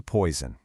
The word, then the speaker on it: poison: Notice that little buzzing Z sound? Poison.